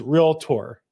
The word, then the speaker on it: realtor: I'm not like this, but I do think it is proper pronunciation. Realtor versus realtor.